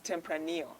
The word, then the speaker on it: Tempranillo: It's written Tempranillo, and I was swiftly corrected. It's Tempranillo. The LL is silent, in Spanish.